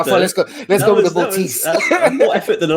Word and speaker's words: Botis: How do we pronounce it? The second one. That's good. Botis.